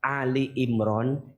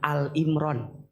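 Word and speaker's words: آل عمران: Punten ya, bunda sayang, teteh sayang, kalau maca Ali Imran jangan Al Imran. Bacanya harus Ali Imran.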